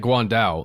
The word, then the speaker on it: Guan Dao: And especially that Guan Dao, that's the weapon, I believe, is how you say that.